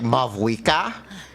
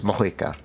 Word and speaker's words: Mavuika: That's how it's pronounced. The V is pronounced like an H. As far as I'm aware, the V is pronounced like an H. You could also think of it as like Mavuika, which is Mohuika.